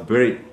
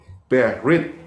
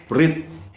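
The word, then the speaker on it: ברית: kalau kita lihat covenant covenant ini bahasa ibraninya adalah berit berit breit ya dari empat huruf yaitu be bacanya dari kanan ya Be Res Yod dan Taf ya t saya di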